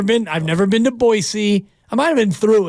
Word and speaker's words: Boise: you I've never been I've never been to boisey I might have been through it thank you for pronouncing it right though you and I we've